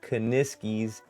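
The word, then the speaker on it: Kuniskis: kaniskis said is that you say his name kaniskis says says little typo there if an electric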